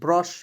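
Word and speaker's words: brush: चलिए उसके बाद देखते हैं बी आर यू एस एच ब्रश बुरस नहीं पढ़ेंगे ब्रश बी आर का ब्र एस एस का हो जाएगा दोस्तों स ब्रश ठीक है क्या पढ़ेंगे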